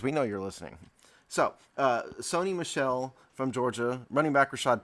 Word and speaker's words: Sony Michel: So in other words, the TV and a girl.